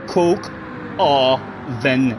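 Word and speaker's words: coq au vin: translate to in English what does coup oven c o q a u v i n three syllables Coke or then translate to in English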